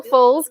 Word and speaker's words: Foles: We're going to be giving away God's Voice, His Message, His Messenger by Bill Foles. Is that the right way to say that? Yep. Bill Foles.